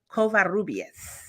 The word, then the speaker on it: Covarrubias: it and it'll sound amazing but it's um covarrubias yes I wanted to sit and actually I